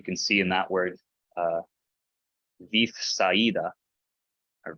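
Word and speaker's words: Βηθσαϊδά: But no, this mark is put here specifically to tell you, don't pronounce them together.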